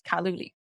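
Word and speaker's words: 卡路里: And example, in Chinese, we pronounce calorie as kaluli.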